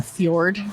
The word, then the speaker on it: fjord: And I feel like I need to be like on a Viking ship in a fjord. Yes. I need Yeah. to live that life. It's Yeah.